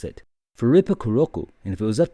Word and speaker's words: フリップクロック: You can pronounce it Furippukurokku. And again, there's no L sound. Now they're not trying to say flip clock. That is a word. It's Furippukurokku.